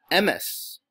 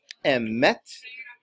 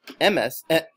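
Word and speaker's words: אמת: What he was really saying is that they tend to pronounce the word for truth incorrectly, because they might call it the emes, or the emet, mila'el, with the emphasis on the first syllable, when in fact you're supposed to say it as emet or emes on the last syllable, which is called milarah.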